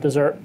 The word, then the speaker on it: Desert: desert island it's spelled desert but the locals pronounce it desert fine with me I like desert um and